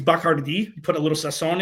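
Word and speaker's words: Bacardi: Um, finding out the proper way to pronounce Bicardi is Bakard.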